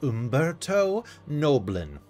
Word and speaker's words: Umberto Noblin: find you just look my name is Umberto noblin yes it rhymes with Goblin you can find me